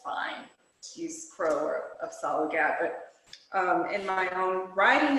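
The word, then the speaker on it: Apsáalooke: So when, I'm gonna try to pronounce it, Absluke? Apsalagat. Absalaga, there, thank you.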